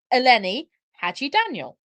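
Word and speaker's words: Eleni Hadjidaniel: And like, yeah, it's a difficult name to read, but like once you know how it's pronounced, it's quite easy. It's Eleni Hadji Daniel.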